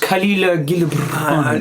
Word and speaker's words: Khalil Gibran: I don't know if you've ever come across the ancient poet Khalil Gibran, but he has a very... Oh, yes. Gibran. It's pronounced Khalil Gibran.